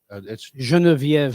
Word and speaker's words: Geneviève: I always thought it was Guinevere, but it's Geneviève. Genevieve. Did you know that? Yeah. I call my friend Genevieve when she's being pretentious. Really? Oh. Mhm. Well, that's the way you're supposed to pronounce it in French.